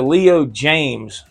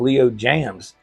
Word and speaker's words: Leo James: It's a Leo James model, all right? I kept saying Leo Jams. Yeah, it's a Leo James.